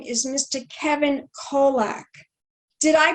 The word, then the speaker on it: Kolack: name is mr kevin kolack did i pronounce that correctly darling perfectly perfectly it's like kojak but with an l with an l okay